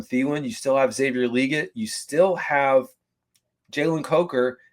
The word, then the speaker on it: Legette: can hit especially if Xavier legit that's the way he pronounces his last name although we love to say legette if he hits and he finds his stride.